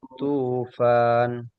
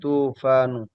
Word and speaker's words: الطوفان: Fakhatahumut tufan. Oh, Bukan tufan dari ya seharusnya. fakhatahumut tufanu.